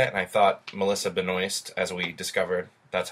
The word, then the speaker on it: Benoist: really entertained by it and I thought Melissa Benoist as we discovered that's how you say her